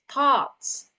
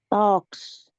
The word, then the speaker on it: thoughts: Thoughts, Talks. not talks. It's thoughts. Okay.